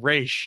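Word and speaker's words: Ra's: They're external to the League, whereas those that call him Raish know the proper pronunciation or giving him the respect properly due.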